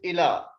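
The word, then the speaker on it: إلى: We don't pronounce it ya. If the ya without the dots, we pronounce it alif. So it is ila.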